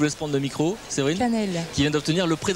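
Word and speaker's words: Caneele: Et puis Séverine, j'arrive pas à prononcer votre nom de famille, je vous laisse prendre le micro. Séverine Canel.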